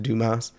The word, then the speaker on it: Dumas: Alexander dumbass it's like it's pronounced Dumas I kept calling myself